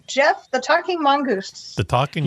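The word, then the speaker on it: Gef: Okay, number 3, Jeff the Talking Mongoose. The Talking Mongoose. Jeff, and it's spelled G-E-F, and they know that because the Talking Mongoose told them so.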